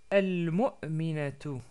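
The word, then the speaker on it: المؤمنة: Sans prononcer la ta à la fin, parce qu'on s'arrête sur le mot.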